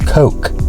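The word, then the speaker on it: KOK: It's pronounced Coke, I swear.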